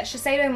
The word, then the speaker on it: Shiseido: There's a Shiseido, is that how you say it? Yep. Yeah, Shiseido mask, and it is hydrating, really hydrating, and